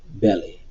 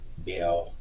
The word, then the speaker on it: Baal: call me no more belly or bala how do you want to pronounce that again it's just bell to me so again we're going